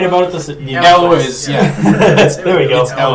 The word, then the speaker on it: Elwes: Carrie Elway? I was right about this. Elwes, yeah.